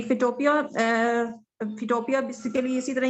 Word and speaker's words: Photopea: लोगो maker और कौन कौन सा बताया था, फोटोशॉप और फोटोपिया? आप इसको प्रोनाउंस कर सकती हैं फिर से एक दफा? जी फिटोपिया, फिटोपिया बेसिकली इसी तरह ही है जिस तरह PHOTOPEA।